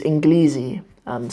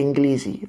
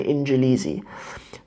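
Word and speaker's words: إنجليزي: more with a calf is like in kill easy orange Lizzy but either way people say inglese e they know how it's said you know I mean it's just it's just for the sake of how it's written you don't hear people say in jail easy yeah you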